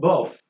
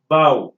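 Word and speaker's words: bough: one referred to as bow and it is pronounced as power and not both we've commonly had some people pronouncing this because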